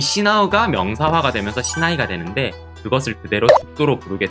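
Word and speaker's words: 竹刀: 마지막으로 보실 어휘는 예외 어휘인 죽도, 시나이가 있습니다. 죽도라고 하는 단어는 치크토라던가 타케카타나라던가 이런 식으로 읽는 게 아니라 시나이라고 하는 별도의 발음으로 읽으니까 주의가 필요해요.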